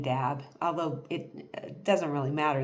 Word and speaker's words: dab: So the spirit is d- a b in the book in the um m language. Um but it's it's not pronounced dab, it's pronounced da.